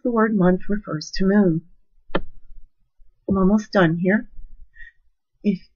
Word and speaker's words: mu: word month refers to Moon I'm almost done here if many of you know music can be broken down into two words mu pronounced moo is the 12th letter